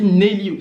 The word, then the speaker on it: Nesli: de Guinée, pour Nelly, ça s'écrit Nesli, mais je crois que ça se dit Nelly, c'est un S muet, hein, donc pour Nelly.